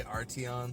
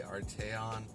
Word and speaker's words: Arteon: to be fair it's a little bit of tomato tomahto some people say arty on some people say Arte on you know there's not